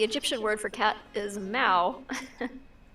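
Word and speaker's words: Mau: Aaron says the Egyptian word for cat is Mao. Not sure how it's spelled.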